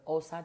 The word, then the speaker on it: Xhosa: roar and the elders wisdom inspired by the Osa tribe of South Africa. I know I pronounce it correctly because somebody from South Africa